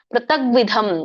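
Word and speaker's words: ಪೃಥಗ್ವಿಧಂ: ಬರುತ್ತೆ ಇಲ್ಲಿ ಪ್ರತಕ್ ಬರುತ್ತೆ ಪ್ರತಗ್ವಿಧಂ ಇಲ್ಲಿ ಗ ಕೆ ವ ಒತ್ತು ಬಂದ ಹಾಗೆ ಹೇಳ್ಬೇಕು ಎರಡನೇ ಚರಣದಲ್ಲಿ ಪ್ರತಗ್ವಿಧಂ ಪ್ರತಕ್ವಿಧ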